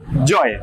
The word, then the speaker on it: Gioi: Joy. Kita panggil dia Joy. Oh, pronounce-nya Joy ya? Joy. Tulisannya Gioi. Jadi Gioi. pronounce-nya Joy. Joy likes enjoy.